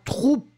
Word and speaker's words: troupe: After that, la troupe. La troupe, so you can see that it's a feminine noun. You write it T-R-O-U-P-E. Remember that you don't really pronounce the E, the final E, that strong.